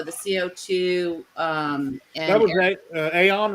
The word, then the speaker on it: Aeon: So the CO2 and That was Aeon, right? How do you pronounce it? yeah, Eon.